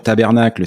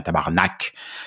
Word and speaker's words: tabarnak: prononcés différemment ici et qu'il faut surtout pas dire tabernacle sinon il nous voilà c'est bien tabarnak ceci étant dit tabarnak